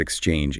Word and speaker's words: exchange: It is two syllables. Exchange. Let's look at the first syllable. X. It looks like an E and an X, but it really sounds like an E sound followed by a K and an S pushed forcefully together.